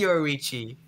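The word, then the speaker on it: Yoriichi: I I I for I to pronounce his name now. It is Yorichi.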